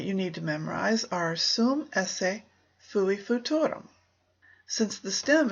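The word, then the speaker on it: esse: word ESS e essay the way it's pronounced is simply essay remember also that the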